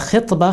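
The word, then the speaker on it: خِطبة: But if you pronounce it with kasra, khitbah, khitbah has a different meaning, that is to propose marriage to a woman.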